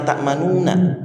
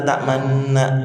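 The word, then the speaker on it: تأمنا: Mungkin ada yang ayat la ta'manna, bacanya bibirnya rada monyong, tapi nggak boleh bacanya la ta'manuna, tapi la ta'manna, gitu kan?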